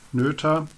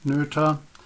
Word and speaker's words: Noether: present the very important nurture theore uh yeah the pronunciation is nura because it's an IG name of Emy nura a German mathematician uh she had worked